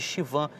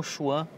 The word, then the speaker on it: Schwann: O professor Moore, que escreve livros de embriologia, a pronúncia correta é células de Schwann e não Schwann.